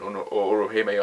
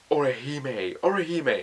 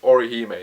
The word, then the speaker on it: Orihime: Chad and Orohime are there, or Hami, or Inu, I can't even pronounce their names. Bloody hell, I'm watching the anime and I still can't pronounce their name. Orihime, there we go, Orihime, there we go, that's it.